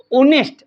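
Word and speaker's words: honest: लड़की एन नेस्ट नेस्ट अब ये लिख रखा है एच लेकिन आवाज आ रही है ओ की इसकी तो डक्की बन गई ये तो साइलेंट है ऑनेस्ट ओ शब्द क्या स्वर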